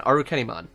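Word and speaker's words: Arukenimon: be that way now sometimes the pronunciations are like again aru kennymon i'm not going to say our kennymod because that's not its name its intention is to be arachne which is from greek myth or whatever the first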